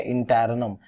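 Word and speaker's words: interregnum: ठीक है, इंटैरनम, जी is silent, इंटैरनम बोलना, इंटैरगनम मत बोल देना।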